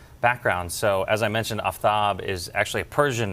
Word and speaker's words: Aftab: pronounce my name and i pronounce my name aftab um and that disappoints some people particularly some south asians that i don't go by aftab and and the only